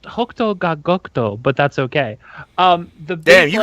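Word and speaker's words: 北斗が如く: It's pronounced Hokuto ga Gokuto, but that's okay.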